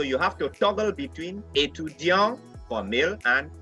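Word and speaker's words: étudiant: suisse to deonte etudiant remember for the male i didn't pronounce the t but for the female student i pronounced the t so you have to toggle between etudiang for male and a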